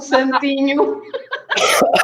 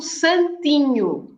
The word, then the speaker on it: santinho: Aqui mora algum santinho. Santinho. Santo. Oh, and good health. Saint. Yes. And santinho is to rhyme with vinho.